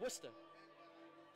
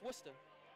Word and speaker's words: Worcester: That's pronounced Worcester. One more time. That's pronounced Worcester. Worcester. Let me spell it again. Worcester. That's Worcester.